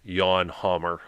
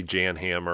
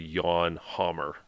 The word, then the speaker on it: Jan Hammer: about uh Jan hamour it's actually pronounced yawn Hammer I keep I know you want to say Jan hammer or other thing it's actually yawn Hammer I've even I'm screwing